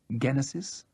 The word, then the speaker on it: Genesis: He pronounced the word with a hard G and with a note of dismay. Genesis. I was querying the hard G. The German pronunciation, he explained. I believe the group's leader was born in Germany.